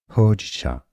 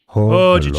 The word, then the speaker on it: Hojicha: Pronunciation is as Hojicha. Hojicha. Long O sound. Hojicha.